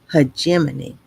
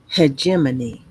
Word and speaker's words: hegemony: And I was pay I wasn't pronouncing it correctly. Is hegemony is leadership or dominance especially by one country or social group over others. So, hegemony, I don't mind being corrected.